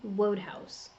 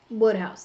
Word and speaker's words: Wodehouse: Wodehouse. Pretty sure that's how you say his name. So, I mean, along the line, I gotta get one of these right somehow, right? So, Wodehouse.